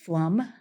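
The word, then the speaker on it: Pflum: We had a unique last name, Flum, which when spelled, a lot of people did not know how to pronounce it.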